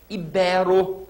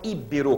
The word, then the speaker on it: ibero: eu gostaria que vocês memorizem ibero e não ibero como a gente escuta por aí tá bom ibero aago